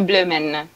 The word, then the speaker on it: Bloemen: Si pronuncia Blumen, è Blumen. Tedesco.